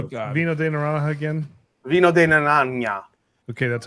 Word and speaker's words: Vino de Naranja: Vino de Naranja.